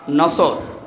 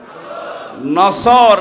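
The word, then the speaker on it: نصر: মাহফিলে প্রবেশ করছি সূরা নসর কোন সূরা বলেন বলেন নসর না নাসর নুন সোয়াদ নাসরুন শব্দের শাব্দিক অর্থ হচ্ছে সাহায্য আর নুন সিন র নাসর মানে ইগল পাখি এজন্য যারা এই সূরাটা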